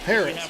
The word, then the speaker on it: Perez: Oh, Perez. Perez. I'm pronouncing that. I'm putting the emphasis in the wrong spot.